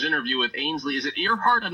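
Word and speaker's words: Earhardt: Is it Earhart? I'm not sure if it's Earhart or Earhart. I believe it's Earhart, kind of like Amelia Earhart, but it's spelled different.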